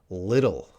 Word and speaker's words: little: Little. So the TT might sound like a D sound.